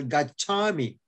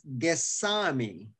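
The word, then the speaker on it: gacchāmi: Now, for example, gachami, go, is pronounced as gesami in Myanmar.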